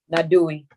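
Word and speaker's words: Naduy: You can pronounce that word, N-A-D-U-Y? Nadui.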